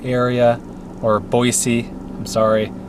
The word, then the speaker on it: Boise: me into the Nampa Boise area or Boise I'm sorry locals say it with an S Z Boise but there's a waterfall